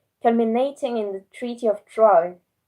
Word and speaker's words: Troyes: in the Treaty of Troyes. I think you pronounce it like this, because it's written Troyes, but in French it's pronounced Trois. So I don't know. I'll say Troy.